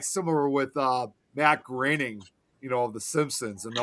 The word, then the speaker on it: Groening: name was supposed to be pronounced Matt Groening. That one got me. It took me some time to remember his. I used well, and I'll that makes two of us because I used to pronounce it as Matt Groening too.